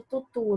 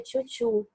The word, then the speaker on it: tutu: Por exemplo, aquele tchutchu da bailarina que as pessoas chamam de tutu, né? Mas a pronúncia mais correta é tchutchu, que é aquela saia que é em formato de bandeja, né?